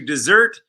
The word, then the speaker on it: desert: this is confusing because the first two are actually homophones they're you pronounce it the same way although you spell it differently the soldier decided to